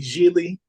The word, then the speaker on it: Gigli: We saw the movie Gigli, rhymes with really.